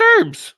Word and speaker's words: herbs: It's pronounced herbs. The H is silent.